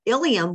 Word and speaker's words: ilium: very different meanings okay you've got ilium and ilium these are really they sound exactly alike okay so the ilium